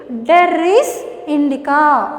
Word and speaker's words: Derris indica: Look at the pronunciation, listen carefully. Derris indica.